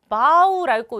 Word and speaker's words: bow: bow라고 읽어요.